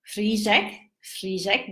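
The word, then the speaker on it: řízek: So if you see this, it's pronounced as sh, sh. Oh my, sh. So it's like R with an H with a Z, sh, yeah. And then, for example, I would say frížek, that's the schnitzel.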